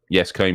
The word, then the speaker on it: Yescombe: We are closely working with the visionary Rob, is it Yescombe? Yes, how do you pronounce his name? Yescombe, yeah.